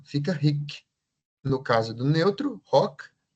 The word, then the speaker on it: hoc: Você pode pronunciar esse H, hck ou rock, né? Eh, é bom que se pronuncie na consagração mesmo, né? O padre diz rock est en in corpusm. Então, esse rock tem que ser dito rock, né? Não é oc.